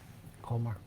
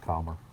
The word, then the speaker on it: Colmar: Colmar. Calmer. Okay, Arnold. Well, it is pronounced. Calmer. The correct pronunciation is Calmer.